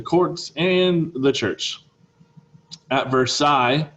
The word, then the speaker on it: Versailles: and the church at versailles this is how you say that word versailles not versailles not versaless not versailles versi ambitious nobles competed for